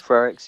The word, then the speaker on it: Frerichs: But also, I think they said, is it Frerichs? You pronounced this lady who came second. Frerichs, yeah.